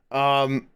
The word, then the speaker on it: Ys: Yeez. It's Yeez, right? That's Yeez nuts. It's always been Yeez. I know there is no other pronunciation.